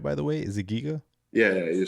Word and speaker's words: Giga: Did I pronounce that right, by the way? Is it Giga?